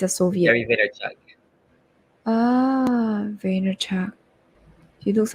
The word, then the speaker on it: Vaynerchuk: Oh wow, his name is so difficult to pronounce, his actual name, because Vaynerchuk. he's not Yeah, he's a Soviet. Gary Vaynerchuk. Ah, Vaynerchuk.